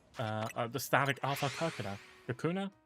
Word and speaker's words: Kakuna: This the static shiny uh the static alpha coconut kakuna. Kakuna, not coconut.